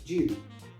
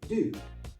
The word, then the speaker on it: due: firstly the pronunciation in british english you're more likely to hear it as jew in american english it's more likely do but i've heard both